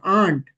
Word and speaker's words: aren't: मैं ये आरंट बस प्रोनाउंसिएशन मतलब आपको समझ में आने के लिए कहते हैं, इसका असल प्रोनाउंसिएशन क्या है? देर आंट, ठीक है, जैसे सुनने में ये आंटी जैसा सुनाई देता है, ठीक है, आंट, ठीक है।